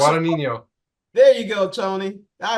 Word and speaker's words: Guadagnino: Pronounce it. Guadagnino.